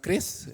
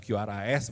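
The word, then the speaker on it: QRIS: Kenapa karena sebelum ada Kris Bacanya adalah kris bukan qrs bukan keris bukan keris tapi keris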